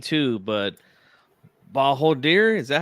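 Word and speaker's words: Bakhodir Jalolov: Hopefully, I don't butcher this name too, but Bahodir, is that how you say it? It's Jolalov? Bahadir Jalalov.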